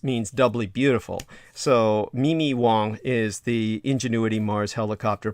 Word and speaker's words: Wong: And her surname is Wong, as in Aung, but it's pronounced, can be pronounced Ong, but really it was originally pronounced Wang. And it's simply a variant spelling in the phoneticization. But so you can say Wong or you can say Ong, which is actually a lot more awkward sounding to me.